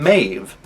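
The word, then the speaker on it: Maebh: the captions on and I saw Ma's name spelled m AE BH and I'm seeing it's spelled that way and hearing the name mave which I've seen spelled m AE V here in the US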